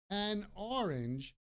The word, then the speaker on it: an orange: an orange and so an orange the N at the an orange blends with the O an orange an apple